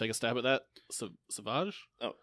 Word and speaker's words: Sauvage: Sauvage? Oh, Sauvage. Okay. Sauvage. Sauvage. Sorry, I hate pronouncing people's last names.